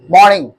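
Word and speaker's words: morning: ये मॉर्निंग नहीं है, मॉर्निंग। आप आर को हल्का हल्का यूज करो, हल्का थोड़ा सा।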